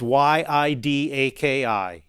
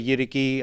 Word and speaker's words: yidaki: It's Yidaki. Yidaki. Yidaki. Yidaki, or some people say Yidiki. I've heard it pronounced Yidaki more, so that's what I go on.